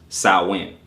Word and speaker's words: Samhain: Samhain, pronounced Samhain or Samhain, it is spelled Samhain, but pronounced Samhain.